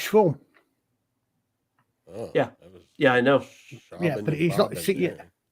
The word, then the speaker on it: Siobhan: I always thought it was Siobhan. It's Schwarm.